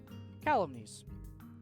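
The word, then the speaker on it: calumnies: gotta find out how in the hell you pronounce that calumese calumetes okay calumese such vile colonies from you young woman I'm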